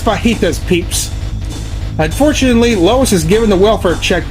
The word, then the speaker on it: fajitas: yeah I would like to have 6,000 chicken fitas please I'm sorry what was that 6,000 chicken fitis and a sage MC biscuit please it's pronounced fajitas peeps unfortunately Lois is given the welfare check